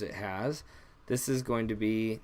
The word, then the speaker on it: ح: is the first one this is more of a hard H so think of the word hard hard you're pronouncing that H hard and it's just called